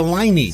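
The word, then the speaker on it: Leinie: thank you it's a liny so good liny rhymes with hiney I had forgotten how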